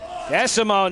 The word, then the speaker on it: Desamot: I need the long ones, Desamot now. The T is silent. The T is very silent, but there's nothing silent about that.